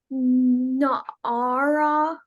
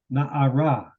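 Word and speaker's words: נערה: Na'ara. Na'ara. That your accent goes on the last syllable.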